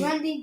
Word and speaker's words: Grundy: Grundy doesn't rhyme with Monday. Yeah, So we see- Grundy does not ride with Monday.